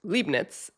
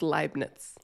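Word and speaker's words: Leibniz: name, which I pronounced Libnitz, is actually pronounced lie, not Lee. So, it's Linets. Lenets, which yeah, I had been saying that wrong the whole time.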